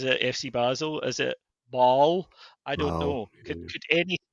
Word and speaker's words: Basel: Just depends if you're you speak French or German really or what area of the city.